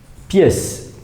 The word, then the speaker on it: pièce: Pièce, vous voyez bien que dans le mot pièce, il y a un E caduc, c'est-à-dire un E qui ne se prononce pas, un E muet à la fin.